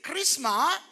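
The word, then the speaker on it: χρίσμα: You know, don't pronounce the S. Just say Christma.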